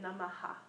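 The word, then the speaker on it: Namaḥ: So oftentimes we say Namaha, you know, so the Namaha, but it's more subtle. That's why sometimes you see it's spelled differently. Sometimes you see Nama, but it's supposed to be actually a subtle like Nama, like a. So it's like aha. So it's a subtler sound.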